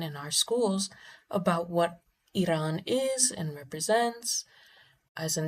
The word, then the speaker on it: Iran: And even even Americans who don't support Iran Iran Iran, let me pronounce the name correctly. Let's get it real. It's Iran.